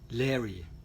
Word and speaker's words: Laoghaire: it's difficult to pronounce every time i try and say her name i just have to remember the word fairy that's the only way i can remember her name now you will know